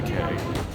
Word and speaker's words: Cay: Or Castaway Cay. You say Key or K? Key. Castaway Key. Yeah, that's Castaway what I Key. Yes, you did it right. Okay. It's spelled Approach. C-A-Y, but it's Key.